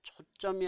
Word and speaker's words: 초점: 주시죠 바로 초점 자 발음은 ㅅ이 있는 것처럼 들리죠 초점 그러나이 둘 다 한자죠 그러면 사시옷이 들어갈 수가 없다 따라서 표기는 그냥 초점 그렇게 쓰시고 읽을 때는 초점이라고 했죠 뭐 시점도 마찬가지잖아요 표기는